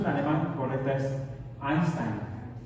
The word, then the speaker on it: Einstein: y no Albert Einstein el buena en la pronunciación de alemán correcta es Einstein o eh Por ejemplo la el pitongo eu